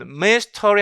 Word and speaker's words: mystery: 그러면 여기에 발음해보면 mystery 할 때 이것이 슈아 사운드가 들어갔어요.